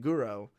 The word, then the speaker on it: guro: what that means so guro is short for guro tesque the japanese pronunciation of the word grotesque uh so basically yeah